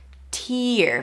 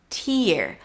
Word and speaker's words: tear: Tear. Make sure the E is long. Tear. But this could also mean to tear. Tear, to ruin, like to tear something down or to tear up a page.